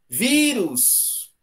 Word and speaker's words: vírus: Na verdade, eles são sílabas tônicas em lugares diferentes, né? Tatu! Vírus! Vírus! Eu tenho uma sílaba tônica na letra I.